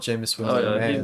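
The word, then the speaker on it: Jameis: how you say his name I would love jamus Winston to be the starter on that team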